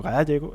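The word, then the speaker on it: Gállego: como el río Aragón el río Gallego Gallego o Gallego porque lleva tilde Y luego el segre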